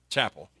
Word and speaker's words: Chappelle: Tristan Begley, Kobe Brown, Chappelle. Did I pronounce it right? Or Chapel? Chapel. The welding program is, as I mentioned, is one of the most popular and in demand.